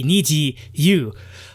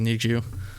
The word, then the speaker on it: NiziU: is from niji niji means rainbow so i thought okay niji you but apparently it's nietzsche so which is i think it's does it sound like need yeah like if you look at the the hangout on the step in step step into step video it says need you yeah so it's supposed to be needs you because the double because it's supposed to sound like need you that it's it's i